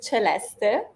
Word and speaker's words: Celeste: your name properly all right uh it is Celeste yeah that's how you pronounce my name yes they always say that